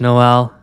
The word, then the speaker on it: Noelle: it's so it's actu the way it's spelt is noelle but it said no and i think that is purely because no one could ever say noel i think in south africa and so it just